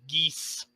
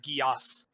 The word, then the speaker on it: Geas: Nagi asked actually the I actually mispronounced the spells name the other day it's actually a geese spell not Geass I